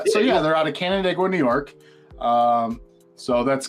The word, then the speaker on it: Canandaigua: they from uh I'm gonna do my best pronounce this Canandaigua New York you got it first try buddy